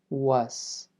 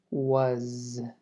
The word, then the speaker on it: was: Cuidado con esto, no vamos a decir was, es was, como si esto fuera más una Z al final, no tanto una S.